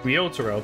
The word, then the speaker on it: Ryotaro: you have established the Ryotaro, that's how you say it.